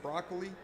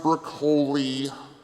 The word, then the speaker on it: Broccoli: zombies came from uh Mr broccoli it's pronounced Brooke holy oh I'm sorry uh